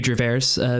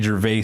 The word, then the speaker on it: Gervais: Or Ricky Gervais for people who can actually fucking pronounce his name. Thank you, Canada. Ricky Gervais? Ricky Gervais. You added a weird extra R at the end of Gervais.